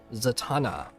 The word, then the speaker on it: Zatanna: Zatanna. Kind of rhymes with katana.